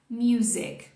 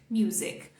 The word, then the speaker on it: music: vezes agora certa para ajudar a grudar tá music music agora um pouquinho de conhecimento que não tem a ver com pronúncia Museu significa música certo certo só que